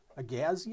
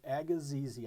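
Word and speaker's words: agassizii: This is Apistogramma Agazizi or Agazizi. I think it's Agazizi. I've heard it pronounced both ways, but just a beautiful, beautiful animal.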